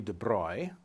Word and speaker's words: de Broglie: In his 1924 PhD thesis, Louis de Broglie, and that's a strange pronunciation for an English speaker, it's a French pronunciation of that spelling, but that's the guy's name, made a deceptively simple proposal.